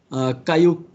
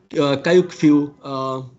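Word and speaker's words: Kyaukphyu: the Burmese port uh very difficult to pronounce is pronounced uh Cayuk Cayuku support.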